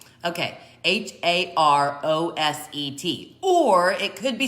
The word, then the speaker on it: Haroset: Anyway, usually the accent is on the last syllable. That being said, I know that the O in the middle is a long O, so I think it's Haroset. Okay, Haroset.